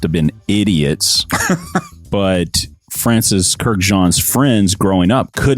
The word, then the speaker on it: Kurkdjian: You also got a carded sample of a Francis Kurkdjian fragrance.